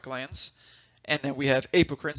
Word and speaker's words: apocrine: We have eccrine sweat glands, and then we have apocrine. Some people pronounce it apocrine, not incorrect. You can say it either way.